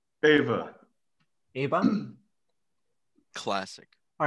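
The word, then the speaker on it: Aoibhe: It's one of those Scottish names that doesn't sound like it should.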